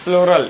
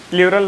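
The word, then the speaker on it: plural: और प्लोरल, इसे प्लूरल नहीं पढ़ा जाता, प्लोरल सही प्रोनाउंसिएशन ऐसे है, प्लोरल, आई we that you, आप इसको याद रखेंगे।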